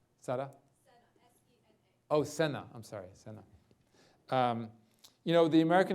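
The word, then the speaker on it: Sena: And then Sada, did I pronounce that right? Sada? S-E-N-A. Oh, Senna.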